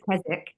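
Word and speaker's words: Keswick: mention Kzwick is a English word and they pronounce It's Kzzik.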